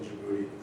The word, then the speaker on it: Djibouti: Um we were in Aliaselene in Kuwait and then also Camp Lemon I think is how you pronounce it in Djibouti.